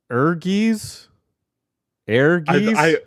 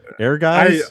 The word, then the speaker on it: Ehrgeiz: it Spencer tell me it's eres arges air guys I think it's air guys I think yeah I think Air Guys is the is the cor like the the correct pronunciation and then in Japanese